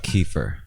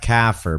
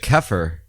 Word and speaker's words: kefir: It's not kafir because that's infidel in Islam and also nigger in South Africa. Yeah, that's a racial term. That's their racial term. Yeah, the K word. But kefir, KEFIR.